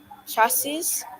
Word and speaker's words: chassis: So, Miss, it says just text or WhatsApp your chassis number and the parts you see. Okay, so that word there, chassis. The S at the end isn't pronounced. Your chassis number.